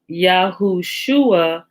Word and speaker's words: Yahushua: 474 out of riches to get to the pronunciation yahushua we insert an uh between the and and the shin and spell his name in hebrew yod hey yahusha i'm